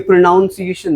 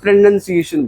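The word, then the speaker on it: pronunciation: सी गलत करेगा देखो ये प्रोनाउंस एशन नहीं है इसको प्रोनंसिएशन बोलते हैं प्रोनंसिएशन ठीक है और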